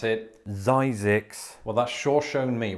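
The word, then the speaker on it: Zzyzx: But despite all of that, Zix is still around to this day, except locals pronounce it Zyzix.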